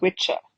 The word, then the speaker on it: Wicca: Now, originally the word Wicca, The Old English pronunciation for this is witcher.